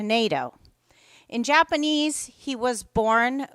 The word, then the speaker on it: Naito: she will tell you Nito Parkway. Which one is correct? Bill was born William Sumio Naidito, but he changed the pronunciation in the 1950s to NATO.